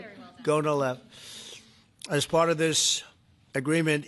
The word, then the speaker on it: Gonal-f: So it's Gonal-F. Is that a proper pronunciation? Very Close well enough, done. right? Very well done. Gonalev.